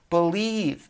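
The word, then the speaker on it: Bleav: Thursday mornings that's called believe b l e a v it's spelled believe in lions with the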